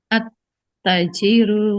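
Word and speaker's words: التاجر: Attajirul ganiyun sama tadi. Nah. Heeh. Betul ya. Sama ya. Tapi tnya dibacanya panjang ya. Attajiru ya.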